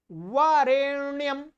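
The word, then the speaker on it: वरेण्यम्: बरन्याम बरन्याम, 'doctor' नहीं। बरन्याम, वहाँ 'N' है। ये लीजिए, आप लोग। आप देखिए, टी एल डी डी एन , ठीक है, बरन्याम बरन्याम बरन्याम बरन्याम .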